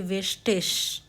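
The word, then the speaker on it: wichtig: इसका मतलब है बाय आई जी है तो हम उसको बोलते हैं इश् जैसे वेस्टिश इसका मतलब होता है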